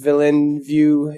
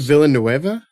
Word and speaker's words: Villeneuve: I always pronounce it Villanueva. Maybe that's it. I don't know. I don't know. That's where my brain wants to. My brain wants to call him Dennis Villanueva, but everybody's like Denis, so